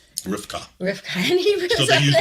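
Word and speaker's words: רבקה: In Hebrew, they actually pronounce Rebekah, what we say Rebekah, it's Rivka. Rivka.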